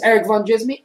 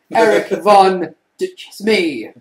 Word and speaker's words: Erik Van Djsimie: It is Erik Van Djsimie at Erik Van Djsimie, which is ERIKVANDJISMIA. And the D is silent.